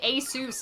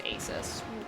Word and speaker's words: Asus: Stopping no stopping apparently Asus is how you're canonically supposed to canonically canonically supposed to pronounce that but um literally everyone says Asus what is this yeah